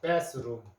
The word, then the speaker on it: bathroom: bathroom. bathroom 하는 말이 우리 욕실, 화장실을 우리 bathroom이라 합니다. 이때 쓰 발음, 쓰 발음이 쓰 번데기 발음이라 그랬죠.